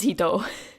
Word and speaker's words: 一: but the kanji for one, which is just a straight line, right? It can also be pronounced as hito.